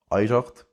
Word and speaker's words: oidhche: So, we get words like oidhche, which is generally pronounced with an I, maighdean, which is generally